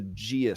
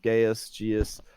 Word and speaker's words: Geas: So the first one is a Geas spell, which is a very powerful enchantment. It basically, I think I pronounced it wrong. Geas.